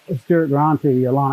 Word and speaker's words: stuartgranti: a species name uh is a latin ending and it's pronounced long e so this is stuart